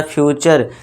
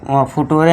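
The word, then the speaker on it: future: इसे क्या पढ़ेंगे फ्यूचर यहां भी च का साउंड आपको करना है इसे फुटूरे नहीं पढ़ना ठीक है दोस्तों या फिर भटूरे नहीं पढ़ना है ध्यान देना है इसे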